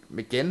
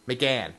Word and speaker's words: McGann: his name wrong uh Mick mcginn home again McGann McGann McGann McGann he's amazing acting